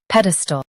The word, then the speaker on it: pedestal: Both US and UK have the same pronunciation of this word, pedestal. Now read the syllables shown on the screen naturally. Ped, stool, pedestal. Focus on ped and soften stall.